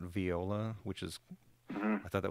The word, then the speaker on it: Viola: then obviously via they she pronounces that viola not viola which is I thought that was kind of weird but viola dot AI and and